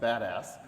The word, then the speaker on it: BDAS: BDA as many of you know that it's pronounced badass and you know here's a few of the